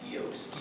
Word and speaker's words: Yost: Just let me clarify for everybody, my last name is pronounced Yost. Yost.